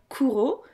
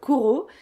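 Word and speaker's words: Cujo: Ensuite, en 1981, est sorti un autre Stephen King, donc celui juste après Danse macabre, c'est-à-dire Kuro. Moi, je le prononce à l'espagnol, Kuro.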